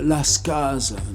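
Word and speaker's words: Las Cases: Napoléon, Sainte-Hélène, je continue les mémoires de Lascaz, qu'on prononce comme ça, c'est quelqu'un du Tarn.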